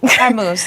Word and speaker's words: Hormuz: Hormuz, the Strait. Thank you. I said vermouth like a drink because I need one.